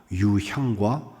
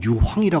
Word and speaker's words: 유향: 황금과 유향과 몰약 발음이 나빠 갖고 유황이라 그러면 안 돼요, 여러분. 유황이 그 유황 아니야.